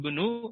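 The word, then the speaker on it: ابن: Hamzahnya tidak dibaca. Yaitu huwa Yazidu benu.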